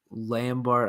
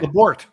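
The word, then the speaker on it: Labourt: another left-handed pitcher, Jario Lambert, I think it was how you pronounced it, for David Price. So I don't think those trades weren't necessarily bad. Jairo Lambert. Okay. Labort. That's what it was.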